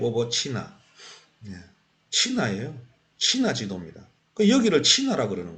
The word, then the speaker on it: CHINA: 친화를 밝히려고 그러는 거예요 치나가 뭐냐 지금 친화를 발음을 차이나라고 부르는데요 차이나가 아니에요 친합니다 왜 발음을 자꾸 엉뚱하게